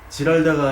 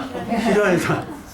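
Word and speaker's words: Giralda: 여기 물이 있고 여기는 아까 지랄라 아니라 히랄다 예 히랄다 예 화 나실 때는에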